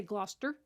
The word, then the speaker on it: Gloucester: It's like when an American goes to England and you visit the town of Gloucestershire, and you realize that they say Gloucester. It's like this really, they lose a lot of syllables.